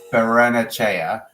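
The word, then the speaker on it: Barrenechea: originally wanted, hold on, someone spelled it out phonetically in the comments. I saw that. PJJ, yes. Berenachea.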